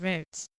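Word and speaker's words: Rhodes: on yeah it wrote i think it's pronounced roads it's a grease uh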